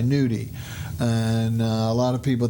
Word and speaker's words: gnudi: It's not really, I'm emphasizing, it's spelled Gnudi, nudi.